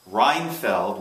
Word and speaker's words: Reinfeld: is with renowned Chef Mark reinfeld which rhymes with Seinfeld and um he is